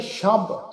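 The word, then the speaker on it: ਸ਼ਬ: साध संगत असीं पाठ उच्चारण कीता शब, सस्से पैर बिंदी लगा के शब, रोज जज्जे पैर बिंदी लगा के रोज, गश्तम सस्से पैर बिंदी लगा के गश्तम, शब रोज गश्तम दर हवा।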